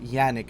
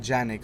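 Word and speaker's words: Janick: still with Yannick girls I was told that's how it's pronounced Yannick not Yannick so like I know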